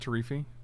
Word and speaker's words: Teferi: It's pronounced Teferi.